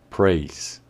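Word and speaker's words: praise: de elogio o alabanza price y que para el caso de su pronunciación el único aspecto a tener en cuenta es que la del final es muda price weiss veréis así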